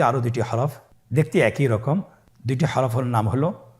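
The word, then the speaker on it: راء: র হরফটি এখানে আমরা পুর করে উচ্চারণ করব। মোটা করে উচ্চারণ করব। এবং র হরফটি এক আলিফ টেনে পড়ব।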